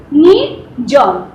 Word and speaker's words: নির্জন: যেমন এখানে দেখো, নির্জন, নির পরে কিন্তু র উচ্চারণ হয়েছে, ওই রেফের র, যার ফলে ওই বর্গীয় জয়ের উপরে গিয়ে কিন্তু রেফ চিহ্নটা দেওয়া হয়েছে।